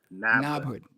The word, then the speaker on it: NABHOOD: Now, how you pronounce the abbreviation for that? So I could say it right. NABHOOD.